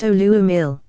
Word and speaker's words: Uluamil: The hieroglyph is a phrase in the mother tongue of Mu, reading Uluamil, pronounced Oluamil.